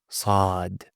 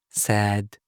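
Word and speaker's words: ص: Then you have also sad sad, not sad. It's not sad, you know.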